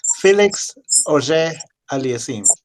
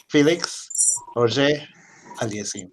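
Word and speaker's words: Félix Auger-Aliassime: The way you pronounce his name is Felix Auger Aliassime. Felix Auger Aliassime.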